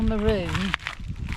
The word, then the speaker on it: maroon: Now in Australia they don't call maroon, they call it maroon. They pronounce the oon as own.